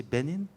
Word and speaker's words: Benin: And after that, the guy is so sure that he wants to go to, how do you say, Benin? You know, the African country? Benin, yeah.